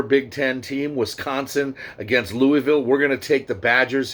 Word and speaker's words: Louisville: hell you're talking about when you say louisville it's louisville that's how it's pronounced and that's just how